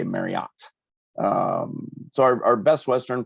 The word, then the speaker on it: Marriott: and it is Mary it rhymes with Chariot according to Debbie Marriott herself um I think all the commercials even say Marriott um so our Best